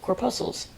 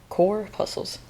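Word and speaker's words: corpuscles: spelled it out phonetically core muscles like muscles but with a pee core puzles okay I did want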